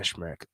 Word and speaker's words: Smrek: Anna Smrek. Tough name to pronounce.